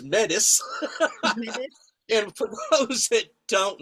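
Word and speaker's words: Métis: I feel so inadequate because I'm what they refer to as Matei, and it's pronounced in different ways. Down south, I was being introduced, and somebody just read the words, and they said, and here's Chief Mel, who is Metis.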